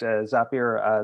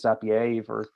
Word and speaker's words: Zapier: myself like i've used zapier as well um i keep pronouncing it as if it's french for some reason uh my brain just does that it's weird uh i keep calling it zapier but it's not but